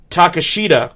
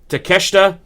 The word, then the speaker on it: Takeshita: Jericho and kanosuke takashita I think I've butchered his name I think oh wait hang on I think they say it takesha I do apologize to my Japanese fans out there they're listening live I apologize it's I I did I I totally said his name wrong so it's Chris Jericho and kanusuke takeshita taking on Sammy Guevara